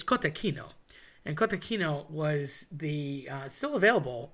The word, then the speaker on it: cotechino: People say gorigin. Again, I think that's a Philly thing. It's cotechino.